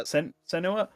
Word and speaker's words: Senua: Is that how you pronounce it? Yeah, Senua.